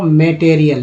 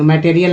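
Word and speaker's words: material: From raw मटेरियल में, अब ए का उच्चारण यहाँ ए क्यों हो रहा है, क्योंकि ए के बाद ई आ गया है, तो मैं नहीं बोलेंगे, मटेरियल नहीं, मेटेरियल, IL को EL बोलते हैं।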